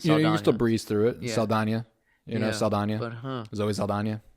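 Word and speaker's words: Saldaña: Um because there's the N there's the Ñ. Yeah, the the tilde before the N or above the N. my whole life or I guess not my whole life. I haven't I've been saying it since Yeah, as long as you've known who she is. But but wow, Zoe Saldana. Interesting. Give a little ya to the end.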